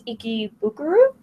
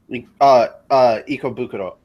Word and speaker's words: Ikebukuro: So if you are in, I think it's Ikebukuro? Ikebukuro.